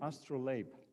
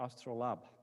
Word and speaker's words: astrolabe: granada and in strasbourg called the astrolabe or astral lab depending on how you want to pronounce it this was used by